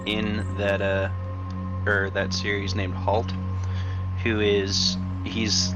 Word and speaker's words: Halt: Holt or Halt? It depends which version of it you're reading. But it's spelled H-A-L-T. Okay. Like that.